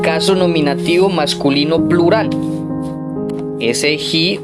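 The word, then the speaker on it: οἱ: Ese hi, o para que usted entienda, hoy esa expresión que se pronuncia hi, allí como lo tenemos, es el artículo en caso nominativo, género masculino y número plural.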